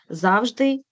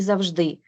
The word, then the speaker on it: завжди: слова з правильним наголосом зверніть увагу в українській мові є де є слова із подвійним наголосом тобто використання цих варіантів буде правильним можна і мабуть і мабуть завжди і завжди помилка і помилка а далі найбільш уживані слова